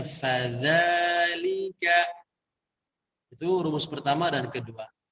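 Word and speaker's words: فَذَلِكَ: Begitupun di ayat kedua, fadha, sebelum diucapkan vokal a-nya, fa-nya tekan dulu. Fadha, dzal pun sama. Jadi sebelum diucapkan a-nya, tekan dulu dzalnya. Fadzalika.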